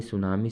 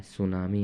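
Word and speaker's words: tsunami: क्या आने वाला है सुनामी आने वाला है ठीक है अब सुनामी हम लिखते कैसे हैं तो यहां पे टी क्या रहता है साइलेंट रहता है और एस यू एन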